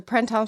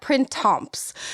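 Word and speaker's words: Printemps: I do know is you do not really pronounce the P or the S. So, like you don't say like it's not Prints.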